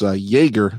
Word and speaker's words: Jaeger: It's Jaeger, spelled with a J, like as in Chuck Yeager.